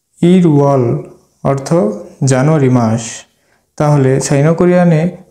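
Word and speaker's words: 일월: তার মূল উচ্চারণে উচ্চারিত হবে তাহলে এটার এটার উচ্চারণ হবে ইরওয়াল ইরওয়াল অর্থ জানুয়ারি মাস তাহলে সাইনোকরিয়ানে দুই কে বলা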